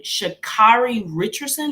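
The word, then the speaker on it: Sha'Carri Richardson: what is going on with how did she pronounce her name shakari richardson is that how you pronounce it correct okay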